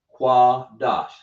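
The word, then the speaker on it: קדוש: But in this case we have a sha and behind that we have it coupled with a das. That means you got to pronounce these two together. Right? So we say qua dash.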